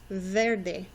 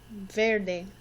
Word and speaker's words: verde: First one we have is verde. Can you say that with me? Verde. Verde. You might notice that the E actually sounds like an A. Verde. Okay, find your verde and color it in.